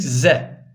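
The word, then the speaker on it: ز: harftir Arkadaşlar şimdi geldik ze işte Türkçedeki Z budur ze buradaki Z buradaki Z'den arkadaşlar Eee farkı şudur buradaki V peltektir buradaki Z keskindir İkisi de incedir arkadaşlar ince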